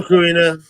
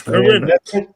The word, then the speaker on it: Corinna: Hello, Karina. Corinna, I guess I gotta pronounce it right. It's Corinna.